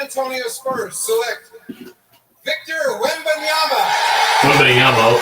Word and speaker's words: Wembanyama: 1B Yumbo, okay, that's how you pronounce it.